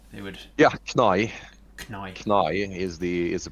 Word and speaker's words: Knai: we were saying before the stream, I was asking you the Uh, pronunciation because the Nordic would pronounce the K, right? They would yeah, Knai. Knai. Knai is the pronunciation.